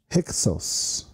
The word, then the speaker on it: Hyksos: It's pronounced Hyksos.